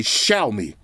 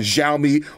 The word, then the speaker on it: Xiaomi: and said you got to say shout me all right so i've been saying xiaomi all these years show me all right shout out to all my asian brethren out there that told me how to say it correctly i appreciate that now